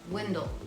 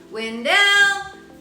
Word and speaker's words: Wendell: 1903 now fun fact the stress of pronunciation was on the poet's first syllable Windle however the residents of the Town were stressing both syllables when D some say the pronunciation came by the train conductors who would actually yell Wendell as the trains approached the town so if you say Wendell like me versus Windell the locals will know that you're not from